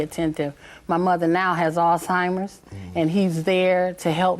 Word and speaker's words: Alzheimer's: Um, I'm glad you pronounced that word properly. Alzheimer's, you know, cuz I've heard it differently.